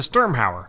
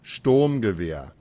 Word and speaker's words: Sturmgewehr: Just sound it out. Sound it out. Stormgewehr. The Stormgoer. The Sturmhauer. The Sturmgewehr. The Strudel Tosser. What do you mean that's offensive? Well, how would you pronounce it? Sturmgewehr. Just the storm.